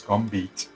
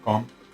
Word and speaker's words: combed: Acuérdate que el ED no es combed, sino combed, ¿vale? La pronunciación es así.